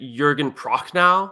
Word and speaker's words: Jürgen Prochnow: Eric, I will let you pronounce the German actor's name. Wait, is it Jürgen Prochnow?